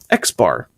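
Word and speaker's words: x̄: over it's a little bar and that's actually pronounced X bar X bar equals the sum of the values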